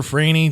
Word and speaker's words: Franey: i'm on facebook uh my name is spelled franey just like it sounds if that makes sense